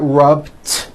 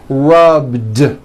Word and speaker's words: rubbed: So for example, the word rub ends with a voiced B. Rub. Today I rub. Yesterday I rubbed. All I did was add a voiced D sound at the end. Rubbed. It's not rubbed with an unvoiced T. It's rubbed, like that.